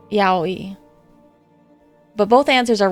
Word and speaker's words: yaoi: I feel like if you say it fast enough, it sounds like a W, like yaoi. But if you say it properly, it's yaoi.